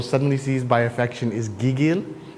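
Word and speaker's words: gigil: seized by affection is giggil spell it g i g i l gigg and pronounce the second syllable emphasize uh it's the first gig G gig no it's the first syllable gig gil g yeah yeah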